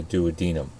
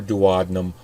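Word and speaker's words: duodenum: intestine referred to as the dadum or dadum both pronunciations are correct the emptying of the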